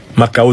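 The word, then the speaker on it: Mackau: le célèbre rapport MAAO qu'il faut lire MAAO s'écrit M a C K u et qui reconstitue les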